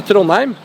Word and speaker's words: Trondheim: How do you pronounce it? Oh, Trondheim.